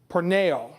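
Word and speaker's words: πορνεύω: The second Greek word for fornication is spelled this way, P-O-R-N-E-U-O, long O, porneo.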